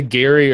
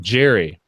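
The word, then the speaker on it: Gerry: He's the Gary or Jerry, and I always forget because it's spelled with a G. But Jerry.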